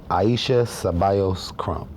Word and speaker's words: Aisha Crump: CEO of the first Latina-owned hair and skincare line and major retailers, Honey Baby Naturals, Miss Aisha Crump.